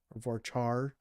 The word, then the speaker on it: varchar: And that's just going to be varchar or varchar, depending on how you say it.